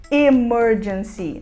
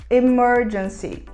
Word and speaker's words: emergency: emergency que significa emergência a gente não vai falar emergency nós vamos falar emergency Talvez agora você esteja